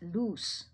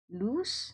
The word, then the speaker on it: loose: And this is pronounced as loose. Okay, loose, okay, with the sound of s, not z anymore.